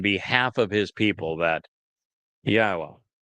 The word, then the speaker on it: Yahweh: of his people that Yahweh, which is God's name properly um articulated based upon haya and Torah which provide us with the instructions on how to pronounce it.